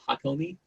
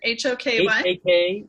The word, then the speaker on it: Hakomi: I did it for a year and a half, and so Hakomi therapy. Look it up. There are awesome therapists out there. But in terms of this thing, spell it again. Hoky.